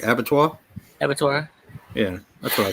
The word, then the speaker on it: Abattoir: Abattoir?